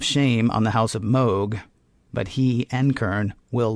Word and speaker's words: Mogh: It is Mogh. It's pronounced Is Mogh. it pronounced Mogh, really? It is pronounced Mogh.